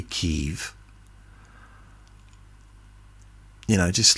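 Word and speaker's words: Kyiv: yeah this decided that we don't say Kiev anymore we say Kiev you know just like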